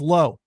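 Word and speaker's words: Lowe: way you pronounce Fox lwe is low not la oh but Joe Davis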